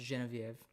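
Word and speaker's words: Geneviève: name is actually pronounced genevieve so she's from quebec which is the french part of canada and uh it's it's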